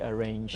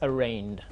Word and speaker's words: arraigned: on radio and say arranged and so on. But it's like, as I said, it's like the word campaign. Yes. You don't say campaign. It's the G is silent. It's arraigned.